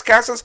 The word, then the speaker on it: Casas: spark in their lineup tristan cassis is that how you pronounce the name cassas casas sorry a lot of times